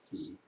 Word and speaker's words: ki: lip service to the idea of Chi, or as Japanese pronounce it, Ki, they really don't teach it.